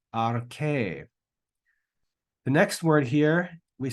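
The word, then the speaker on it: ἀρχή: So that word is pronounced arche, arche.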